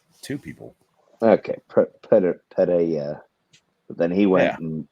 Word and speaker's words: Pereira: Just Eddie pronounce it Pereira.